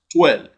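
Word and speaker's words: twelve: Clearly, option C is the answer because it is in it that wo is pronounced. 12.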